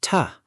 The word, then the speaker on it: to: Look at the word to. Robot, I want to go to the park, pronouncing it to. Human, I want to go to the park. It becomes ta.